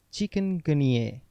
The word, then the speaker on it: chikungunya: chicken plus gun plus ye yes the correct pronunciation is chicken ghaniere the word chicken ganier is derived from a word in the kimakonda language meaning to become contorted chicken gunier is an infection caused by the chikungunya virus